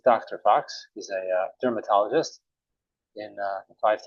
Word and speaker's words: Fuchs: Oh, actually, my name is Mr. Fox. So, oh, I'm so sorry. It's an understandable mistake. Fuchs, Fox, kind of sounds the same, especially if you're pronouncing an Israeli accent, I imagine.